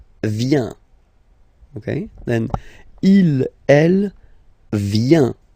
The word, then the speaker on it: vient: Then il, elle vient. Final T not pronounced.